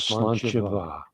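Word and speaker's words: sláinte mhaith: For instance, something I often say to people is slanchava, and it's Irish for good health, but slancha is spelled S-L-A-N-T-E, and va is spelled M-A-N-H-A-I, no, M-A-I-T-H, M-A-I-T-H, and it's pronounced va.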